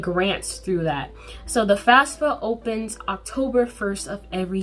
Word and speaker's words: FAFSA: is applying for the fafsa fafsa spelled f-a-f-s-a it sounds a little weird but yeah it's spelled that way so the fafsa or